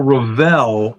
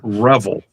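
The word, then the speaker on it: Revell: me to task because I call Ravel, I call it Revel. And that's just the way I have always pronounced it. I'm trying not to say revel.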